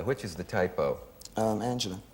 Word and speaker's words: Angela: angels and angela which is the typo um angela angie uh her real name is angel um yeah